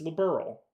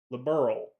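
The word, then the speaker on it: Liberl: But they're pronouncing it like somebody's a liberal like that person is liberal.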